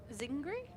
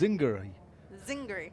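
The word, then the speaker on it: I Zingari: Uh Jamie Vanza said we didn't pronounce e zingari or it's a short i that sounds like hit with the emphasis on zing and not on gar. So zingry i I'm confused. Zinger zingry.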